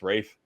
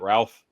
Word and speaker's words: Ralph: for conclave and yes it is pronounced Rafe is not Ralph Rines and Sebastian Stan